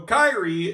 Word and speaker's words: Kairi: Yeah, so tonight, Yep, so Kairi is getting a little bit of punishment.